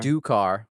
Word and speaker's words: Sardukar: Sardukar. And like the Sardukar, there you go. I put a lot of like pronunciation guys, and I got that one.